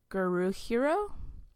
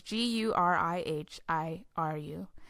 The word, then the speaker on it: Gurihiru: Art is Guruhiru. I'm sorry, but it's Gurihiru.